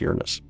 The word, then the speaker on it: Uranus: We actually pronounce it Uranus instead of Uranus. Obviously, a lot of people like to call it Uranus. So trust me, we've heard all the jokes. When you do astronomy, you hear all the jokes, but it actually is pronounced Uranus.